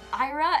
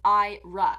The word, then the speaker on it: Ira: anyway but yeah so ira is pronounced in the english way okay and i also